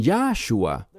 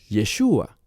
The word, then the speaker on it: Yeshua: Y ellos dicen Yahshua. Bien, hay un problema. No con el mensaje, no con su intención, sino que Yahshua no es hebreo. Es una creación humana para pronunciar ese nombre y es incorrecta. No es fiel a lo que dice el texto, que llamarás su nombre Yeshua.